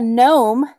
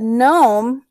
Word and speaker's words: gnome: has a mustache yeah gnome it's spelled g-n-o-m but gnome the g is silent and you start with the m sound so that's uh that's